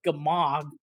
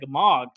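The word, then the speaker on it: Gmork: always said is like gamog but it's spelled g-m-o-r-k so it's suggests to me like it should be like a Mork but I've always said I've always just said gamog basically it's like a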